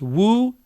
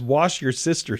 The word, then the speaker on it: Worcestershire: The pronunciation, and it messes people up because they think that it's something else, but it's Worcestershire.